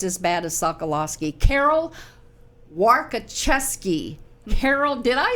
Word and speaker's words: Warkoczewski: Carol Warkoczewski.